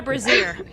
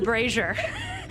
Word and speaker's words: brazier: apparently i was wrong it's not a brazier it's a brazier although it does look like it's spelled like brazier um you're met at